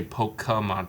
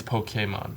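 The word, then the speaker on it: Pokémon: But apparently it's Pokemon.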